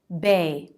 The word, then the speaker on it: bae: pattern second syllable stress bae simple pronunciation b and the a diphthong but i've been teaching